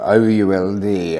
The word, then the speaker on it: Ould: And 2 ladies, Miss Lapthorne and a Mrs. Ould, O-U-L-D, Ould, I think he would pronounce it.